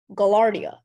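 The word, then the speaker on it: gaillardia: name and the second part is new Latin gallardia are there any alternate pronunciation for the word gallardia or gallarda gallardia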